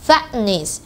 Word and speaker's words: fatness: 이게 다시 뗐다 붙여야 되는 귀찮음이 있어요. 그래서 그냥 붙인 채로 발음을 하는 거죠. Fatness.